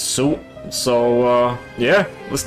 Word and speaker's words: Suit: the name this time i usually say leisure sweet i just realized that it's soup so uh yeah let's